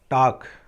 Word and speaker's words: talk: TALK टाक, देखो L silent है यहाँ पर, तो क्या जाएगा टाक टाक यानी बात करना, तो टाक्ड टाक्ड।